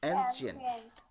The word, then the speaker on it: ancient: ठीक है, तो let's Okay, pronounce it sir. 3-4 times, 3-4 बोल लेते हैं। एंशियंट, Ancient.